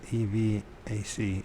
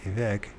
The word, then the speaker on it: EVAC: Her last contact with EVAC, E-V-A-C, EVAC, that's how you pronounce it, even EVAC, was in December 1987, as she drove her son through a snowstorm into another town.